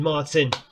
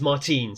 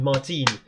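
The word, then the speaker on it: Martín: David Martin. It is Martine. Sorry, I've just seen the accent on the I. It is David Martine.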